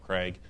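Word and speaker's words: Cragg: on CRA it's that Craig you know it's it's it sounds just like you spelled it right but you got to spell it wrong it's c r a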